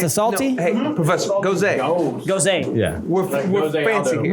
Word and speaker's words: Gose: It's a Ghost style ale with how do you say that? Syrah grapes. Syrah. Yeah. It's Gose. Gose.